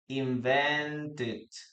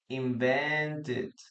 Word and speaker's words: invented: Okay, in this case, we pronounce it. Okay, we pronounce it. So, the correct pronunciation of this word would be invented. Invented.